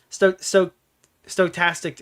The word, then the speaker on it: stochastic: Stochastic, it's stochastic terrorism, right? That's how you fucking pronounce it.